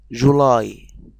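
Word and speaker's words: July: يعني مثلا كلمة جولاي، جولاي، لاحظنا ان احنا مديناها جولاي، يعني شهر يوليو.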